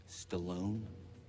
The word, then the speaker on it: Stalin: my grandfather from Stalin in my country it's pronounced Stallone there's a funny days